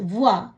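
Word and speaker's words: voix: வே ஓ இ இக்ஸ் வுவா, குரல், சத்தம், குரலால் ஒலிக்கிற சத்தம். கியூ யு ஓ இ குவா, என்ன. பே ஓ இ தே எஸ் புவா, நிறுவை. இப்படியாக ஓ இ என்ற சத்தம் வரும் பொழுது உவா என்று உச்சரிக்கணும்.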